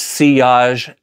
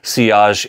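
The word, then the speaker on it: sillage: touch base on is seage and longevity. Seage is a French word meaning uh, wake. It's not pronounced silage like it looks like in English English. It is a French word seage.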